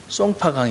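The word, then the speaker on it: 松花江: 때 그게 소화가 우리가 송화강 이고 중국 발음으로 는 아 쏭 파 강 이라고 하는 송파 장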